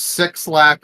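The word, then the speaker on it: 6LACK: You know, it's so funny that there's six lack on here. I saw a pronunciation video that claimed that sixlack sounds like sex lack or lack of sex because there is never enough sex in our lives.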